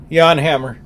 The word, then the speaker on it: Jan Hammer: yep absolutely uh Jan Hammer Yanhammer Yanhammer yeah I always thought it was Jan I guess what